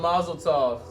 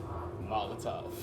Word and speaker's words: Molotov: Oh, Masletos. What? Cocktails. Yeah. Molotovs. Molotov. He said Masleto. I've been pronouncing that my whole life, dude.